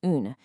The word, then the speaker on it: un: The masculine un has a short nasal sound, while the feminine une has a rounded distinct oo sound followed by a soft n.